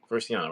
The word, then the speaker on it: Vresiana: How do you spell that house? Vresina. Vresi? Sinna. I think that's how you say it, right? Vresiana, right?